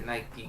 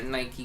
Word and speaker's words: Nike: But It's Nike because that's they take it from the Greek god or whatever.